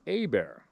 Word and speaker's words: Hebert: bear what all right it's spelled h-e-b-e-r-t and it's pronounced a bear all right i was